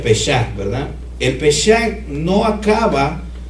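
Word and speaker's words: פסח: les estuve enseñando que en hebreo la Pascua se pronuncia pesac verdad el pesac no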